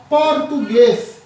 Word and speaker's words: português: um a sílaba tônica essa sílaba tônica da palavra português é a última e vem com acento então a palavra oxítona